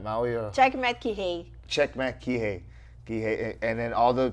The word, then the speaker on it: Kihei: Checkmat Kihei.